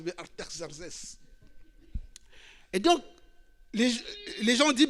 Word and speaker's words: Artaxerxès: Il y a un autre roi qui est arrivé là-bas, c'est Yves qui le prononce bien, Artaxerxès.